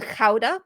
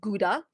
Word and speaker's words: Gouda: quite nearby uh to a city called Kha or as English people call it Gouda which is also very